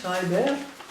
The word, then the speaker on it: Schreiber: mon grand-père Boris eimovich Schreber prononcé à la russe Schreber à la française ma grand-mère Rosa ov